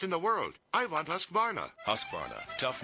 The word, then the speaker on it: Husqvarna: now how to say husqvarna you say husk like corn and varn like varnish without the ish and nah